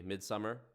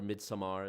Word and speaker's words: Midsommar: Midsummer, or Midsommar, as some people pronounce it.